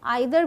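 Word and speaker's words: either: तो एक चीज़ और बता दो, ईदर की जो प्रोनाउंसिएशन है दो है। आइदर भी बोलते हैं इसे, ईदर भी बोलते हैं। इट्स अप टू यू कि आप कौन सा पिक करते हैं।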